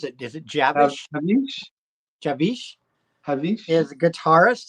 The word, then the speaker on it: Javish: And how do you pronounce it? Is it Javish? Javish, Javish Javish.